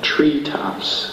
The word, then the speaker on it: treetops: We have treetops, compound noun. Two nouns put together with the stress on the first noun.